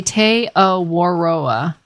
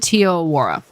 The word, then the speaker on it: Te Awaroa: how do you guys pronounce tealwora they say te awaroa okay I pronounce it Tio Aurora like and I know that's wrong because if